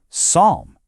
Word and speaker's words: psalm: The P at the beginning, gone, silent. The L in the middle, also silent.